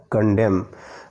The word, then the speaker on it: condemn: कंडेम का spelling देखिएगा, CONDEMN है, लेकिन N का उच्चारण नहीं होता है, इसके लिए हम पढ़ेंगे उसको कंडेम।